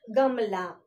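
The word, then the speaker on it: गमला: Okay, symbol, see here, last letter, one extra line is there. That's a symbol of a. So I'm giving little bit stress to the consonant la. So we call it as, we pronounce it like Gamla.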